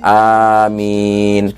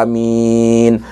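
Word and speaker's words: آمين: Yaitu A-nya dibaca panjang, minimal 2 harokah, lalu mengikuti mat badal ini minnya dibaca panjang 4 sampai 6 harokah. Amin.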